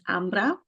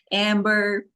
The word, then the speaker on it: Ambra: full name so uh if I would just pronounce it the Italian way it's amra that's my name and for the americ is like amra amra Amber and my last name they say Amber I appreciate you